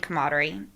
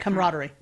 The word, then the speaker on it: camaraderie: culture that cultivated Innovation through strong trust and codery how do you pronounce that camaraderie there you go thank you not one organized